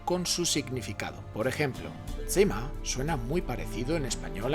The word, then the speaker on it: Zimmer: bien tema significa habitación y se pronuncia como has oído cima no zimmer ramón campayo propone en